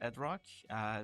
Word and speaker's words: Edrock: So the name is Edrock. We spell it as e d r o c k.